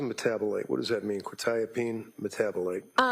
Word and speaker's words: quetiapine: Probably mispronouncing this, quetiapine? Uh quetiapine.